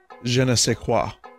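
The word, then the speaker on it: je ne sais quoi: I'd wash them but they have a certain Jenna sick wha I got that I know how to pronounce that because Jacques and animal crossing said it he made a joke Jenna say quoi literally just learned that yesterday homo Dan had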